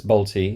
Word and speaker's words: Bolte: the ultra talented and lovely human being Jean balty that's balty rhymes with Nick NTI as she told me um